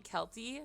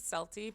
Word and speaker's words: Celty: Like, yeah, I I I know that people call me Kelty, which is fine. I pronounce it Selty because it's based off a character that I really liked.